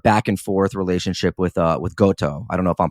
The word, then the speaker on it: Goto: your sort of back and forth relationship with Goto. I don't know if I'm pronouncing his name right.